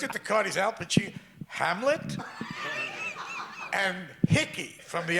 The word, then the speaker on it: Pacino: all, he said, Al Pacino. He pronounced my name right. That never happened. I went to a whole school, a public school, they never, Pacini, Pacuno, Pacani, that kind of thing.